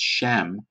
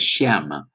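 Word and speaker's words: שם: just slightly earth it's the same exact Hebrew letters pronounced just slightly different it's Shem Shem instead of Shama and other than that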